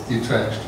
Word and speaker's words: Utrecht: That was mostly because Utrecht rhymes with vivisect.